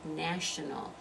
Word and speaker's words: national: it in the word national national has only three syllables right national national that first one is the one that receives the stress so again you're going